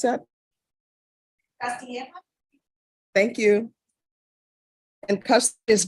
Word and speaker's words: Castilla: Melissa Castilla, how do you pronounce that? Castilla.